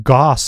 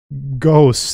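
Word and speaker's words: Gauss: that right the day I was saying um Goss incorrectly it's I think I said it wrong again uh ghosts it's ghosts I believe it's ghosts I yeah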